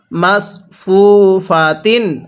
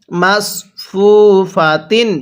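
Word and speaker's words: مَصْفُوفَةٍ: মাসফুফাতিন হ্যাঁ কিভাবে শিখবো মাসফুফাতিন আরেকবার আমার সাথে পড়ুন মাসফুফাতিন এটাকে সিন পড়বেন না পড়ুন আমার সাথে মাসফুফাতিন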